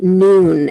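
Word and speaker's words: Nuun: carry it it's from a company called noon and they spell it n-u-u-n um and it's got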